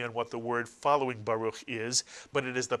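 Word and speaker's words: ברוך: Can you read the first syllable? Ba is correct, mitsuyan. It's simply the bet with the kamats. You wouldn't add the resh because the resh does not have a silent shva under it. So the first syllable is simply ba. And the second syllable, ruch, mitsuyan, ruch. And you put the word together, you get baruch, mitsuyan.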